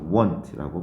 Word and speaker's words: won't: will not을 줄여서 want라고 발음합니다.